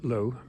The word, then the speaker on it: Loo: Royal Palace at low a low isn't clearing in a forest but it's spelled l o o so it's low Royal Palace built in